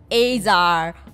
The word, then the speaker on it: Azar: 字是 Alex。A-Z-A-R 所以是阿扎 Azar 了。